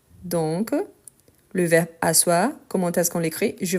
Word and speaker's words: asseoir: Parce qu'il y a les E qu'on ne prononce pas.